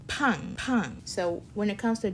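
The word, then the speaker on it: 빵: 밥, 팡. That 팡, that double B, sounds like an aspirated P, kind of like a hard P.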